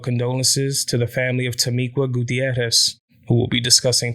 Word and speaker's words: Tamiqua: video about Tamiqua you'll notice that I was pronouncing her name to Mika and that's because of the spelling of her